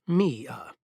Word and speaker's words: Mia: She pronounced it as Me-a.